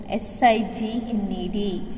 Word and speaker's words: signed: S-I-G-N-E-D, signed. Okay, the word K-N-O-W has the letter K in it, but it is pronounced as no.